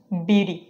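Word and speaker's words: beauty: পরের শব্দ হচ্ছে বিউটি বিউটি এটা ফ্ল্যাপিং করলে উচ্চারণ হবে বিউ বিউরি বিউ আমরা এরকম বলতে পারি শি ইজ দা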